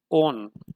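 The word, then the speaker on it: -one: इसे वन नहीं पढ़ना है, इसे ओन प्रोनाउंस करना है।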